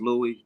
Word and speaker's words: Lewis: It's pronounced Louis.